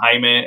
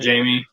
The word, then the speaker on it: Jaime: got a friend named hyman and it's spelled jaime but that's you don't call him jamie you know it just was uh you know spanish pronunciation uh but he dude